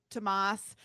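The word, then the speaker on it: Thomas: So, remember the scene where the where she's like trying to do the black swan and Tamas looks to the S is silent uh looks to the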